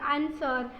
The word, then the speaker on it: answer: उसके बाद मैंने लिखे हैं वो डब्लू वाले, जैसे कि रॉन्ग हो गया, WRONG। उसके बाद ANSWER आंसर, या WRAP, तो हम रैप कहेंगे उसे। और WRITE राइट।